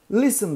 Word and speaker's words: listen: Burada listen diye bir kelimemiz var. Bu harf size ne yaptı ya? Bu harf okunmuyor. Sessiz bir harf. Aynı şekilde burada.